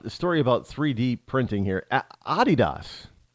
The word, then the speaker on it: Adidas: Adidas. Did you know that's how they pronounce it in Europe is Adidas? We say Adidas. In places like Ireland and England and France, Spain, they say Adidas.